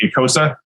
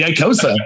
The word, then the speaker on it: Icosa: characters and I think it's the Ikosa. Is that the right pronunciation for? Yes. Awesome. Got it on the first try. Yeah, got it in the first try. The Icosa.